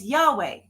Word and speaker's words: Yahweh: In Hebrew, it's Yahweh.